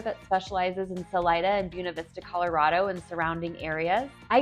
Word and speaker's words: Buena Vista: will likely be reading this and thinking it's pronounced buav Vista Colorado well locals pronounce it buav Vista I want to get that out of the